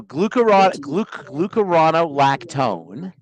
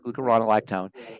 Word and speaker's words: glucuronolactone: So glucuronolactone is how you say it, glucuronolactone, is a breakdown product, a derivative of glucose.